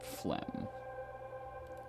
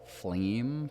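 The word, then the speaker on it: phlegm: I used to pronounce that as flame for the longest time. Flame. Flame. Flame. Yeah. I love that I got the G sound right in that word, but I never got the E sound right.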